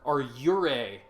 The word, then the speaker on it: yurei: There are yurei, Y-U-R-E-I, if you want to pronounce it phonetically in English.